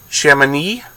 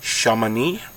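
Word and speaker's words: Chamonix: my pronunciation on this chemin e in the French Alps there's an X at the back of it I believe it's shaman II I believe I also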